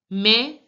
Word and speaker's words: mais: Mais les dates. Here also the S is not pronounced.